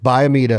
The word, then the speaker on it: Biomeda: in the Biomeda and make sure that I'm pronouncing that right, Jimbo. Please correct me if I'm wrong. You did. Biomeda.